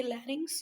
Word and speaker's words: larynx: इसको ये स्पेलिंग के ऊपर नहीं जाना बेटा, इसको पढ़ते हैं फेरिंग्स, ये लैरिंग्स, ये ट्रैकिया, ब्रोंकाई, लंग्स.